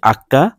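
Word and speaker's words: acca: এ, এফে, জি, আক্কা, এইচকে বলে আক্কা, এইচের কোনো উচ্চারণ হয় না, এটাকে বলে আক্কা।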